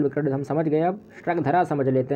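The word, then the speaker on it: स्रग्धरा: यह श्रगधरा छंद है, स्त्रगधरा नहीं है।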